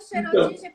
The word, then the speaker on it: Schrödinger: corrijo, porque eu falo eu falo do jeito que eu leio, que eu imagino. Eu falo Schrödinger porque é como ficou conhecido, né? Quando se fala, ficou conhecido essa pronúncia do gato de Schrödinger.